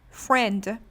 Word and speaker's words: friend: Classmate, it has two S's, and friend, I is silent.